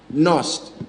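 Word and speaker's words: Knust: The Nost is spelled K-N-U-S-T.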